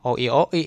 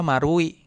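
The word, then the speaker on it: マルイ: Kalau orang enggak bisa bahasa Jepang bilangnya oi-oi gitu kan. Mall oi-oi nih gitu kan. Tapi padahal hari ini artinya adalah Marui gitu kan dibacanya Marui. Nah, Marui ini yang no o ini nih lingkaran Maru sama i gitu. Marui bacanya seperti itu ya gitu.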